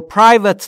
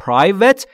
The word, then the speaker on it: private: Private یعنی خصوصی. بچه ها تلفظش رو دقت کنید. Private نیستا. Private. Private با پی ساکن در ابتدا میشه خصوصی.